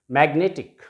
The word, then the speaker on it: magnetic: Next is magnetic. This is a trisyllabic word. Magnetic. Magnetic. So this is the last syllable ending in ic. So it will have the stress on the penultimate syllable, means here.